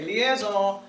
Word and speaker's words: liaison: that you're going to have a liaison ok liaison is the pronouncing and in French for you we hear